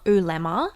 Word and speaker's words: oolemma: You can find me on Twitter, and my handle is Emma Ulemma, which is, it's actually the outer surface of an egg is an ulemma, and it rhymes with my name.